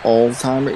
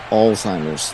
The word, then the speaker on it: Alzheimer's: me okay you have Alzheimer's by the way but um that's hilarious way it's it by the way it's not Alzheimer it's Alzheimer's yeah you you illiterate